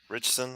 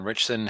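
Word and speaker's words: Ritchson: uh and Allan uh richon rickon richson I think is how you pronounce his name um Jack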